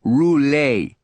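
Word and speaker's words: Roulet: Almost like the spinning wheel, but you pronounce it rule.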